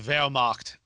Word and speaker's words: Wehrmacht: By the way, it's pronounced Wehrmacht. Wehrmacht.